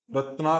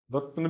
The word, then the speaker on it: रत्न: रत्ना कहाँ है यहाँ पे, रत्न भी नहीं, रत्न, रत्न, रत्न धातमम। इसमें संस्कृत वाले भी बहुत ज्यादा, या तो रत्ना कर देंगे, या रत्ना, रत्ना धातमम, आ को बड़ा कर देंगे, रत्न धा, न के